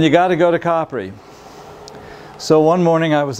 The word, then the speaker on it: Capri: Capri Americans pronounce it Capri but in Italy a is usually ah and you usually make a word longer rather than louder to emphasize it and you got to go to coppery so one morning I